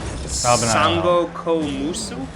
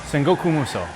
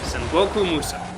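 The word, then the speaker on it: Sangoku Musou: In Japan, it was called, and pardon me, I am very sorry for these pronunciations, San Musu. Sangoku Muso. Okay. Sangoku Muso.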